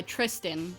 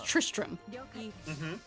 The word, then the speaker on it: Tristram: like names like guy Tristan and the dude's name was not Tristan his name was Tristram that's just how the